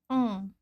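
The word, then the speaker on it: ㅇ: kita ingat aja ya kalau si yang ini di depan enggak ada pengaruhnya apa-apa ya Kosong aja gitu engak memberikan pengucapan apa-apa sedangkan kalau di belakang Dia memberikan Efek pengucapan ng nah huruf berikutnya Seperti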